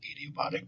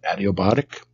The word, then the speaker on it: adiabatic: That is an adiabatic, sometimes pronounced adiabatic, but adiabatic.